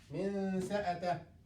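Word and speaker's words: منسأته: We will pronounce noon but halfway.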